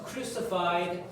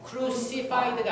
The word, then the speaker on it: crucified: For our sake he was crucified. 그래서 이 cruci 이 i가 발음이 안 돼요. crucified가 아니고 crucified.